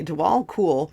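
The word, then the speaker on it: Djwhal Khul: on okay dwall cool oh it is pronounced like cool right on okay dwall cool known as the Tibetan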